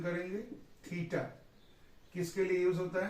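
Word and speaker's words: theta: कैसे इसका प्रोनाउंसिएशन करेंगे? थीटा।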